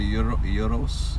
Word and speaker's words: gyros: Don't they pronounce it gyros? Gyros? Is that how they say it? In Greece, it's gyros. Gyros? Where I was. I thought the G was silent.